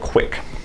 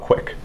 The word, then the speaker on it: QUIC: built on top of TCP is something called quick um so quick is an application Level protocol